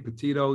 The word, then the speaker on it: Petito: Petito.